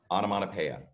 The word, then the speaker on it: onomatopoeia: that right there yeah that p OE is Latin and it's pronounced pea so autumn on a pea I don't have onomatopoeia I love it repetitions